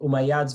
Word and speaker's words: Umayyads: You have the Umayyads. Steve, help me. Am I pronouncing it correctly? The Umayyads versus the Abbasis?